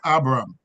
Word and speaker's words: Abram: Egypt to dwell there it is better when um you pronounce it Abram it's it it makes a distinction between Abram and Abraham so Abraham right for